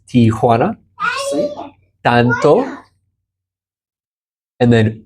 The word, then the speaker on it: Tijuana: I always say T-O-1. It's not T-O-1. Correct. Tijuana.